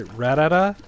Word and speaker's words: Rattata: plan on hatching three rattatas I know people another thing I love about Pokemon everyone's pronunciation of things like I say Rattata some people say ratata um what else have